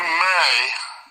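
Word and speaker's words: μή: M-E. It's pronounced may.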